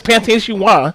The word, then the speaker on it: pâté chinois: What the fuck is pâté chinois?